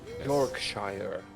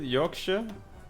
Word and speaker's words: Yorkshire: in repair British people York Shire that's my home how dare you mispronounce it what is it Yorkshire oh okay when you say the O is gonna be you Yorkshire it's the enemy that's